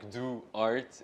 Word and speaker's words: Duarte: So the pronunciation you did was great. It's like Duarte. It's like a Portuguese weird name.